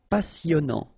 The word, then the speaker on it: passionnant: Okay, here you pronounce the double S because you've got a vowel, so it's really a strong one. Passionnant. Final T not pronounced, and then here you get this en sound.